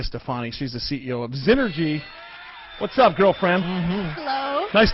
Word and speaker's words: Xnergy: for you so so first of all znergy correct yes okay so so because that's spelled with a with an X by the way Nails oh sure oh it's it's it's x n r g y it's an investment banking